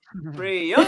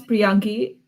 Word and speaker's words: Priyangee: All the way from Henry Street in the library, it is Priyangee. Thank you. My name is Priyangee. Thank you for pronouncing my name perfectly.